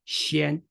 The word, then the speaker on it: 先: but someone tells you its pronunciation can be phonetically denoted by two Chinese characters, xi and an. What would you do? Xian. That's right. You simply read the two Chinese characters with one breath and try to minimize